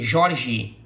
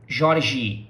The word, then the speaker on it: Jorge: But when we say this name, we say Jorge, Jorge. So it ends with the sound of our letter I, which is E in Portuguese.